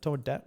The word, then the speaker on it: Tomodachi: Tomodachi Tomodachi Tomodachi Tomodachi Tomodachi Life Living the Dream demo.